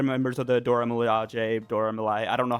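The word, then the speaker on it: Dora Milaje: of the other members of the Dora Malia Dora Malai I don't know how how it's pronounced my bad but um and she Dora Malaj. Dora Malaj. Dora Malaj is correct.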